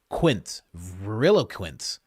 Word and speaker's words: veriloquent: Oh, you you have it here because you knew I would not be able to pronounce it. Verilquent. Veriloquent, which means speaking the truth.